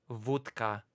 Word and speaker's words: wódka: If we accept that it's been created in Poland, wódka. Repeat it after me. Repeat it in the chat. Wódka. Okay? That's the proper pronunciation that you're gonna use now.